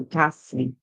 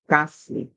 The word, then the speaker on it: ghastly: the word ghastly, but the G makes the sound, the H is silent.